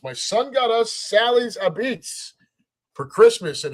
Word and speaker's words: apizza: Those of you that don't know, in New Haven, Connecticut, that is how we spell it. Apizza, and we pronounce it Abits.